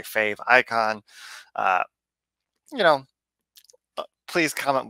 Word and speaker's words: favicon: fave icon logo and it's like fave icon I don't really know how to pronounce it it's one of those things that I've only ever seen written down so in my head it's favicon the same way like emoticon but I can imagine